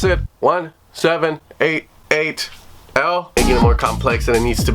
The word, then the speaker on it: 1788-L: like 1788, or as he says people should pronounce it, 1788.